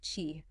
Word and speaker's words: Qi: It really focuses on the surprising power of Qi activation, and it's pronounced Qi, like in Cheetos.